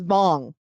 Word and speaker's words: Wang: His name is spelled Wang. It's not Wang. It's Vong.